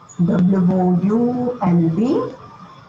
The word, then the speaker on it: would: W-O-U-L-D, would. Your L is silent, children.